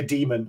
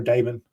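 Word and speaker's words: daemon: that takes care it's like a demon or Damon depends on how you want to pronounce that but effectively it's another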